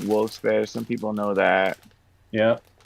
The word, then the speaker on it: Wilkes-Barre: Wilkes-Barre.